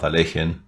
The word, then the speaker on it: Alekhine: Didn't we all agree that Alekhine was a putzer, says Snitor?